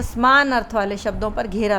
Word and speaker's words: समान: अब आगे है समान अर्थ वाले शब्दों पर घेरा लगाना है।